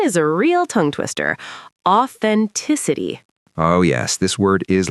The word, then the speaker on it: authenticity: The th is right there in the middle, and the stress falls on the third syllable, authenticity. Give us the wrong version, Rachel. Exaggerating. Authenticity. No th, wrong stress, all the syllables blurred together.